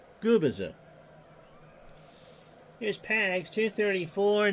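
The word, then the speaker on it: Gubicza: And just for anyone watching out there from Florida, specifically the Sarasota area, it's pronounced Gubiza.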